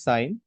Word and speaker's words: sine: So first one is sign. In short it is written as sin n but pronounce it as sign. Don't pronounce it as sin.